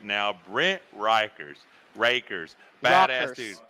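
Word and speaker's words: Rekers: right now Brent Rikers rakers badass dudes rockers is how I should pronounce it but it's spelled r-e-k-e-r-s this dude's awesome Triple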